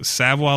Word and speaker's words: Savoy: mean he does artwork on his stuff so Savoie leather which is spelled Savoy SAV oh why leather com and